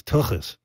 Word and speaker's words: Tuchus: band with you called took us you're the lead singer I I think we'd be awesome and you get some Superstars you got to say it right it's tokis Turkish in concert